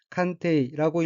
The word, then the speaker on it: 鑑定: 다음 어휘는 한자가 감정이고 각기 거울감자와 정할정자이고 일본어로는 칸테이라고 읽으며 칸테이는 감정이란 뜻의 명사 또는 수루타동사이고 칸테이 감정의 동의어로는 메키키 서와 골동품 따위를 감정함, 감식함, 또 그 사람이 있습니다.